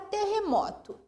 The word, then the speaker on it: terremoto: Por exemplo, a palavra terremoto. Te-re-mo-to. O que eu pronuncio com mais tonicidade aqui? Mo, é uma paroxítona.